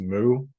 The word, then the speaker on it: mu: the Greek letter M probably more accurately pronounced moo but if you say moo all the time then people laugh because it sounds like a cow so um so we'll call it mu so this thing it